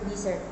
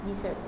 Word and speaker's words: desert: For example, in the word desert, noun meaning a dry region, the first syllable is stressed desert. In the word desert, verb meaning to abandon the stress shift to the second syllable desert.